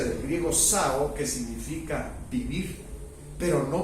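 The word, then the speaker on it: ζάω: según el griego porque la palabra vida se pronuncia del griego Sao que significa vivir pero no vivir carnalmente sino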